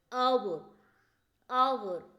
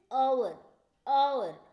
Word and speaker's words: hour: Look, an hour, an hour. Is it? Here H is a silent letter. H is a silent letter. We pronounce it as a vowel sound. Is it? Hour, is it?